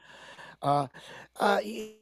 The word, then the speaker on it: Ottawa: Ottawa, is that the correct pronunciation? Yep. Ottawa.